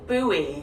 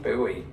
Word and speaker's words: buoy: We pronounce this just as you would pronounce the word boy, as in boy and girl. Buoy. Buoy.